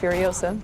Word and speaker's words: Furiosa: Your character, Furiosa, I think I'm pronouncing it correctly. Yeah, Furiosa.